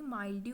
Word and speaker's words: mildew: Downy माइल्ड्यू भी बोलते हैं और डाउनी मिल्ड्यू भी बोलते हैं. सो प्रोनाउंसिएशन डिफरेंट है इसकी थोड़ी सी, बट डाउनी का मतलब होता है डाउन साइड, ठीक है.